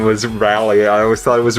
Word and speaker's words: Rally: I never knew before this kid's name was rally I always thought I was Riley and they just pronounced it really weird in the anime no its rally thank God so the story again is sort